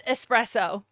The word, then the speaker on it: espresso: It's espresso.